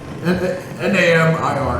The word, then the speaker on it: Namir: N-A-M-I-R. I don't know how to pronounce it. I didn't honestly want to ask. Name. No, Namir.